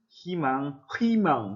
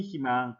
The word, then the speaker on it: 희망: 다만 세 번째 것은 자음 더하기 의는 의를 이로 발음한다, 의를 이로 발음한다 라고 하는 것. 여기 나와 있네요, 여러분들. 8쪽에 나와 있죠. 이것은 닐리리, 무디, 희망, 닐리리, 무디 이렇게 발음할 필요 없어요. 이것은 로 발음한답니다. 로 발음한답니다. 그러니까 닐리리, 무니, 희망 이렇게 발음하면 되겠습니다.